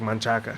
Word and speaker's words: Manchaca: is pronounced manchac for most other people who speak in it colloquially.